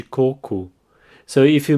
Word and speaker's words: coco: for coconut coir coup now here the emphasis is in the first syllable cuckoo and the o at the end has an ooh sound cool so the full